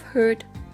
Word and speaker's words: herd: Beware of herd, a dreadful word that looks like beard and sounds like bird.